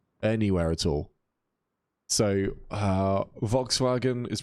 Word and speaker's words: Volkswagen: made anywhere else anywhere at all so uh Volkswagen is pronounced Volkswagen see I didn't know that it was like